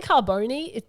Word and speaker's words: Carbone: I say Carbone. You can say Carbone. In Italian, it's Carbone. What about whatever.